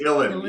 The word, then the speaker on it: Uilleann: Uilleann, yeah. Uilleann like chillin', except Uilleann.